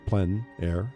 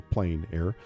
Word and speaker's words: plein air: open air or outdoors the French say plein air others say plein air but no matter how